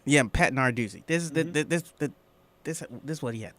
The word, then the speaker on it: Narduzzi: How you pronounce his name? Oh, Pat Narduzzi? Yeah, Pat Narduzzi.